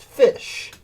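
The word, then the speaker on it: ghoti: t i g h o t i it's pronounced fish you have the GH and rough rough wait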